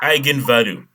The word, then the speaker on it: eigenvalue: Pronounce it eigenvalue.